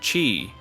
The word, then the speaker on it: qi: Traditional Chinese medicine calls it qi, pronounced qi, which practitioners claim flows through invisible pathways called meridians.